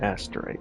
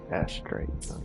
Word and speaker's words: Astrite: Astrite. Not asterite. Astrite.